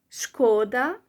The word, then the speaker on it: Шкода: Шкода. When you stress the second syllable, the A, it means it's a pity.